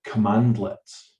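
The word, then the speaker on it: cmdlet: made up of these small um objects called commandlets okay and it's it's written cmd let's but it's pronounced commandlet okay and the commandlets are just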